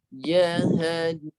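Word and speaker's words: جَهَنَّم: Cara baca dia Jahannam. Cuba baca. Jahannam. Yes. Tekannya di rongga hidung. Dengung dia 2 harakat.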